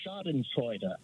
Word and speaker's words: Schadenfreude: show, I believe, about a word in German, Schadenfreude. Right. Mm-hmm. So I was right. That's how. Yeah, that's exactly how you pronounce it, because I used to live in Germany, and German is second language for me.